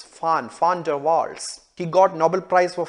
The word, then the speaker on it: van der Waals: physicist called johannes diedrich fan dervar you know the right way to say the one it's not one but it is fun founder waltz he got nobel prize for physics in 1910.